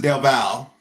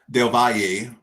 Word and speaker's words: Del Valle: Bulgarian versus Del Val. Will this be the first dog of the night that hits? Del Valle. So I was saying his name wrong.